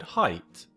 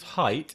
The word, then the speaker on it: height: Now the exception to this rule here is the word height. Because height is pronounced I. Although the spelling is the same.